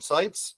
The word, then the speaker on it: Sipes: how do you say your last name sites sites okay see I got it right I'm a little bit better at pronouncing things than Paul generally is he's uh